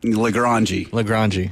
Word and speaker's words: LaGrange: LaGrange. Yeah. That's how you're supposed to pronounce it.